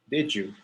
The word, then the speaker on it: did you: Now, whenever you say, did you, imagine that it is one word. Did you, with a J for Michael Jackson, jeans, Justin Bieber.